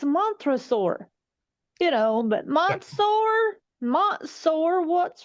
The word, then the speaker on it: Montresor: and she mispronounced Montresor's name. She made it like Montsor, Montsor, and I was like, what the hell are you saying?